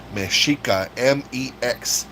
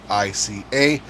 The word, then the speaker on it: Mexica: However, they call themselves Mexica, Mexica. The X is pronounced like CH.